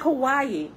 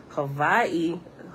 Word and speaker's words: Hawaii: What I'm understanding now by being here and actually listening to the native people, just like Hawaii, pronouncing Hawaii, that is wrong.